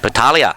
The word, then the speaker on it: Battaglia: Just on behalf of all Italians, we don't pronounce the G, Milky. Battaglia.